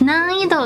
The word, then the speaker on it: 難易度: actually have to say So the way you pronounce it is that you can close your mouth and just say It's closer to the M sound. So Okay. Nam-ido. Nam ito. Perfect. Nan-ido.